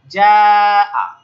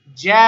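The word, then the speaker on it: جاء: যেমন আমরা জিম আলিফ জবর যা আলিফ মাদ, এটা আগে এক আলিফ টান দিতাম, যা এই টানটাকে এখন দীর্ঘ করে চার থেকে পাঁচ আলিফ করতে হবে এবং শেষে হামজার উচ্চারণটা করে ছেড়ে দিতে হবে।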